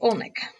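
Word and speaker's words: Oleynik: Yes, and she's played by Larissa Olnick. Is that how you say her name? Yes, Olnick.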